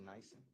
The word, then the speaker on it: NIBIN: I'll put this in writing just for ease, but on the, it's pronounced Nyson, the firearms Nyson, NIBIN, on the NIBIN report.